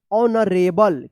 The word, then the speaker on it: honorable: देखिए यहाँ पे HONORABLE, इसको क्या पढ़ेंगे? ऑनरेबल। क्या पढ़ेंगे? ऑनरेबल पढ़ेंगे। यहाँ पे भी एच क्या है? साइलेंट है, ठीक है।